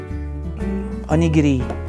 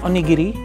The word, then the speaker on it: onigiri: strawberry strawberry Rock next one is ah onigiri that's how you pronounce it onigiri onigiri hell yeah the comics finish it